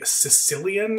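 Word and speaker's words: caecilian: This thing is called a Sicilian. It's spelled like this, but it's pronounced like, you know, someone who's from the island of Sicily, the Sicilian.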